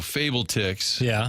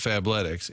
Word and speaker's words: Fabletics: If you go Fable Ticks instead of Fabletics, and now I'm looking at Lululemon.